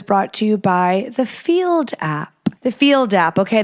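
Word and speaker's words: Feeld: download the field app spelled Fe l d pronounced field on the Apple App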